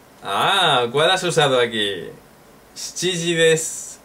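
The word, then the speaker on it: 七時: Pero se escucha mucho más shichiji, shichiji. ¿Nanji ni aimasu ka? Shichiji ni aimashou. Shichiji desu. ¿Ima wa nanji desu ka? Shichiji desu. Practica esta pronunciación porque es difícil, ¿eh? Shi, chi, ji, desu.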